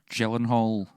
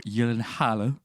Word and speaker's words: Gyllenhaal: I think Gyllenhaal, or Gyllenhaal, I'm going to say his name correctly, was so perfect He kicked at playing ass in that.